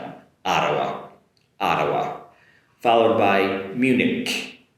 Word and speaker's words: Munich: This is a good one here in the regard of the “ch” sound at the end in English is a Munich um whereas in in the German in German, the German language and also in Japanese it's “hen” at the end “myunhen” but in English, Munich Munich so that “ch” at the end is a “k” sound in in English.